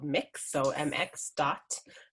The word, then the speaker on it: Mx: gender encompassing honorific called mix so mx dot it's uh pronounced like mixing a bowl um so that's something